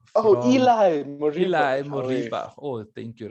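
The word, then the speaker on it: Ilaix Moriba: Okay, the next one is, and excuse me for the pronunciation of this one, it's Ilax Moriba. Eli Moriba.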